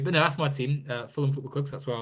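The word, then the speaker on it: Fulham: a word it doesn't it says f u l h a m um isn't really it's not a a well formed word if you sort of really go about it phonetically ham um that's English for you but no that's my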